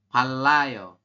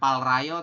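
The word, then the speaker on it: 팔아요: Palayo. Bukan palrayo tapi palayo ya.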